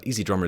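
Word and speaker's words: EZdrummer: comment it's it's pronounced it's spelled e Z easy like the two letters right e Zed drummer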